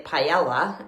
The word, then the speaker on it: paella: Yesterday we had, I say paella. Some people say paella, if you want to pronounce the L's, but the guy was trying to teach me how to say it there.